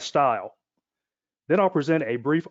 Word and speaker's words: STIL: standard test interface language also known and produced or pronounced as style then i'll present a